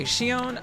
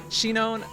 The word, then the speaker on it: Shinon: Okay, Shion, I don't know anything about him, or Shinon. Wow, I totally just got his name wrong. Shinon, I don't know anything